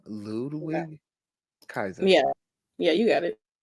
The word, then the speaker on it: Ludwig Kaiser: it I'm gonna try to say his name Ludwig Kaiser yeah yeah you got it yeah or other